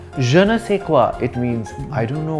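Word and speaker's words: je ne sais quoi: sure nough c'est quoi in French je is pronounced ja n E is pronounced know if a is is say with the last s silent and qu o I is quoi janessa quoi it means I don't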